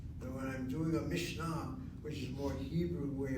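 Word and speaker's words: Mishnah: I hear how I'm saying it. That's the Yiddish way of saying it, the Mishna. And when I'm doing a Mishna, which is more Hebrew way of saying it, I am changing something.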